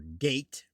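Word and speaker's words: Geat: Skeleddwa otherwise known as sky pronounced shield founded the skelling great pronounced g or gate likewise founded the gateng gas beowolf of epic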